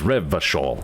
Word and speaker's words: Revachol: Revachol. Everybody keeps pronouncing that CH harder.